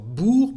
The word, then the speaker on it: bourg: The same thing for bourg. Bourg is town or a small village. Bourg, un bourg.